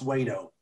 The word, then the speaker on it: Wedow: his name is gary wayto it's w-e-d-o-w but it's pronounced wait-o gary's a laporte a